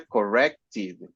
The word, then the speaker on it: corrected: Porque el último sonido es. Sí. Entonces se pronuncia corrected.